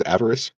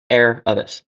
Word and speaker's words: Aravis: Is avarice. Air. Just think air and then the rest will come. Aravis.